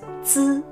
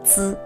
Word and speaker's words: zi: To produce the three syllables, zi, ci, si, the most important thing to remember is that we modify air stream by keeping the tip of the tongue flat.